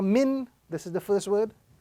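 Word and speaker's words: مِن: Here again we have two words, meme, noon, sukun kasra min.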